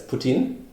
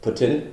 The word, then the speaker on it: poutine: also contributed the syrup yeah it's uh it's poutine or putin however you want to want to pronounce it and it's basically just fries with